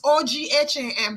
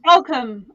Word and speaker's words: Ogham: Indigo, you're British, so you pronounce this OGHAM. The runes, not the Celt, not the OGHM. OGHAM. That's the rune that's on this. Oakham. Okay, so come on. I think it's Oakham.